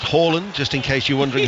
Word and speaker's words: Haaland: Manchester City, of course, was called Haaland, but we're told it's pronounced Haaland, just in case you're wondering who we're talking about.